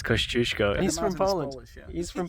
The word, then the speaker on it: Kosciuszko: Piotr, how do you pronounce Kosciuszko? It's Kosciuszko. It's Kosciuszko.